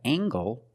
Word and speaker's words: angle: We have angle spelled L E making the nasal sound M and the hard G.